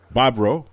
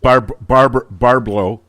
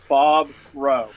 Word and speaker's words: Bobrow: We're chatting with Warren Bobrow. Is that the right way to pronounce it? You did it. You did it right. Did I? Well, the first time it was yes. Barblow.